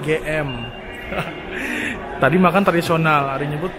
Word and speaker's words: GM: Jadi buat kalian, ini jangan susah Inggris nih, GM. Padahal si Bakmi GM itu selalu bilang, tulisannya dibacanya GM.